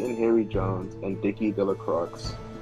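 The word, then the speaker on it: Delacroix: Harry Jones and Dicky delro the villagers pronounced his name de Croy eventually made a great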